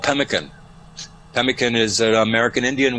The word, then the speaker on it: pemmican: You know, I'm interested in something called pemmican.